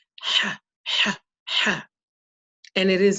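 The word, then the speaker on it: ح: This letter here is pronounced ha, ha. Okay. We use, in our system, we use the letter H, but we use an underline underneath to indicate the harshness of this letter.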